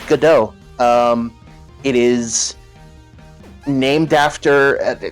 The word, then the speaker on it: Godot: says wait it's not pron Godot no it's pronounced gdo um it is named after I mean it's it's a you know gdau is a name uh I'm sure people in